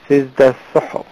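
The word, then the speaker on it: سجود السهو: সুতরাং এটি হালকা করে উচ্চারণ করে সিজদা সাহো নট সিজদা সুহু অনেকে বলে সিজদা সুহ সুহু নয় সিজদা সাহো তো এই বিষয়টি অত্যন্ত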